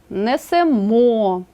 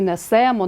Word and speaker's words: несемо: емо имо ете ите наголошуємо останній склад наприклад несемо несете а не несемо несете Ідемо ідете а